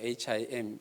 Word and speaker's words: hymn: 찬송가가 영어로 HYMN인데 그냥 발음하면 힘이잖아요. HIM, 힘과 똑같잖아요.